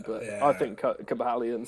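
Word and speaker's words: Cobalion: he plays the team he's actually pronounced cobra lion apparently but yeah i think cobalian sounds cool yeah if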